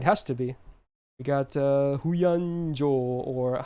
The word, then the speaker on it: Huyan Zhuo: We got Huyan Zhuo, or how I like to call her is Koen Shaku, because I can't do Chinese pronunciation. That's the Japanese way to read her name.